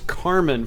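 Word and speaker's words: Kármán: Um, it's it it's actually I think it's spelled with a C in real life, but it's Carmen for uh it's to break uh I think 18,000 something like that.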